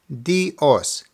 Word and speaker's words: dios: with dios God now this is basically two sounds made into one dios dios now say it a little faster with the emphasis on the second half dios we see espit